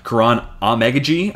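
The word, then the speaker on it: Kiran Amegadjie: Actually, The Athletic and Dane Brugler just put out a great story about Karan Amegaji. Finally got that pronunciation finalized.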